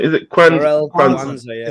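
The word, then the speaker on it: Jarell Quansah: Jarell Kwanzaa, yeah.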